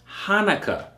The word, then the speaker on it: Hanukkah: 98 okay so keep that in mind it's pronounced Hanukkah okay dedication Hanukkah same thing it is Hanukkah